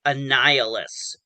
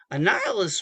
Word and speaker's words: Annihilus: pcat thank you both annihilus yes what's that my mind did not pronounce that like a nihilist um it went a different direction um oh yep yep